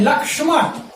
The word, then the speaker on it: लक्ष्मण: कभी कभी हम ये देखते हैं कि हिंदी में क्ष का उच्चारण छ के रूप में भी कर दिया जाता है। जैसे यह है लक्ष्मण, और हम इसको ऐसा बोल देते हैं, ठीक है, लक्ष्मण।